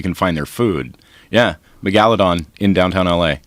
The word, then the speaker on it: Megalodon: find their food yeah megaladon in Downtown LA is it megaladon is that how you say it or is it Meg megaladon Megalodon your emphasis is on a different salal doesn't same thing oh